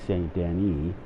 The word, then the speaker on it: Saint Denis: That's the correct saying of that is Lagros. Just like the correct saying of Saint Denis is Saint Denis.